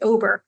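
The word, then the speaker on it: OWBR: one specific metric and I call it the um the ow wbr or I pronounce it obber and obber stands for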